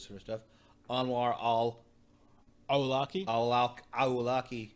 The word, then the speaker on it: Awlaki: It's just a K. It's not. I don't think it's a Q. No, it is a Q. Very good. I didn't mean to pronounce it as a Q. I just always say my K's like that. Awlaki.